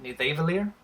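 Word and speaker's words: Nidavellir: where the dorbz love comic book fans probably call it need Dave earlier and Nita Valier actual Norse would pronounce it need a evil ear pretty sure that's what's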